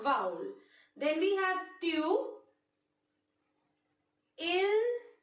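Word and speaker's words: ils: We pronounce them as il and elle only.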